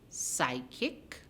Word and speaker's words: psychic: Psychic, you have P.